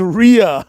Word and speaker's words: Rhea: you know and also Ria rhymes with diarrhea so that's all I